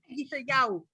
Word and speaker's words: Yeshayahu: You were close. You just added a bunch of spaces in between. Yeshayahu.